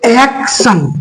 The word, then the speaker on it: action: तो एक्शन, इसको क्या पढ़े हम लोग, एक्शन।